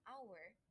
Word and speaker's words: hour: And in some words that begin with H, the H is not pronounced. Instead, the word begins with a vowel sound and an is used. Example: I need an hour to finish my homework.